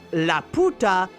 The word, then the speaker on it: Laputa: the name you see Lauda or in another pronunciation laputa is actually Spanish for the because of this the